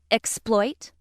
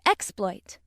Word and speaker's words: exploit: And again, word nine deserves special attention because it has two pronunciations, exploit and exploit. Which pronunciation you use depends on how the word functions in a sentence. Let's see how this works. If word nine is being used as a verb meaning to make use of, it is pronounced exploit. Exploit.